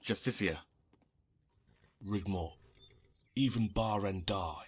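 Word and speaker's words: Justiciar: trust this ass clown he's a justicar a thalmor it's pronounced justicia rigmore even bar and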